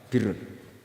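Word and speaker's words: بر: Ya kalau di isim fa'ilnya umumnya guru-guru kita baca barin, tapi untuk masdarnya untuk kebaikan bacanya apa? Birun. Nanti kamu protes, oh barun itu daratan Gus, kalau birun itu kebaikan. Aku itu macaku kamus luwes suwi, bocah kok sembrono.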